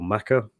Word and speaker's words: Mecca: is a little rusty is it pronounced Mecca or maca um is it I always assumed it was Mecca but is there a is there a different way of pronouncing that different are both correct they're both correct okay interesting yeah and